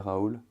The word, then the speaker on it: Raoult: Now, everyone kind of knows who Didier Raoult is, Didier Raoult, if you want to pronounce it in French.